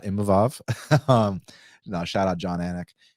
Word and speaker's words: Imavov: So respecting Nassourdine Imavov on the big win.